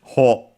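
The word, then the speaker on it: 穂: But yes, ho, also accented, means ear of a cereal plant, and so on.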